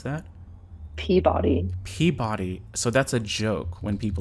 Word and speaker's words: Peabody: Is that how we pronounce that? Peabody.